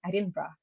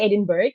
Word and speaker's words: Edinburgh: when I was in Edinburgh. So you can say Edinburgh or Edinburgh. It's Edinburgh is the way people in Scotland, in the city. I mean, in Scotland, particularly pronounce the name.